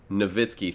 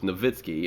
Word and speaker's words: Nowitzki: it's like a dirk novitskiy thing where it's spelled nowitzki but polish the w so it's novitskiy unless there's some kind